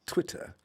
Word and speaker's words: Twitter: And notice how it says it's not Twitter, it's Twitter. Twitter.